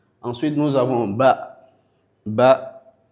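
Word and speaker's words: باء: Ensuite, nous avons ba ba par le rapprochement des deux lèvres.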